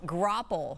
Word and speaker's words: graupel: How do you pronounce it again? Graupel? Graupel.